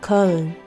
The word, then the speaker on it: Köln: Today we explore the Christmas markets of Germany, specifically the holiday joys of Cologne, which in German is pronounced more like Köln.